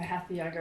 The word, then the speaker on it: hatha: And you talked about hatha yoga. Maybe I didn't get the pronunciation right.